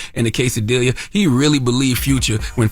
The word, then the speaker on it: quesadilla: silent letters lasagna okay quesadilla quesadilla why have two L's if you're not going to use them that makes no sense